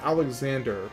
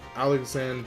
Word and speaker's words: Alexandre: It's not Alexander, but it's more like Alexandre Dumas, or something like that.